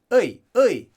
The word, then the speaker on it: 의: And that's just dialect, but it's a very common dialect, so just be prepared that you can hear it pronounced as e, but supposed to be 의, just as it is.